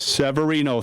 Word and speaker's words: Severino: It's good to hear Joe Severino. Am I pronouncing his name right? Severino, thank you.